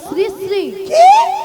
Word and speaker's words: শ্রীশ্রী: কেন আরে মাসি ওনার নাম ছিড়িছিড়ি নয় বল শ্রীশ্রী বল শ্রীশ্রীড়ি ি আমি কি সিড়ি সিড়ি